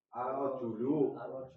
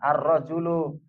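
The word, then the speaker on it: الرجل: Arjulu. Nah, arrajulu. Kalau rijal jinnya panjang ada harakat ee ada fathahnya. Afan ada alifnya arrijal. Karena ini jimnya tidak ada alifnya maka bacanya arrajul.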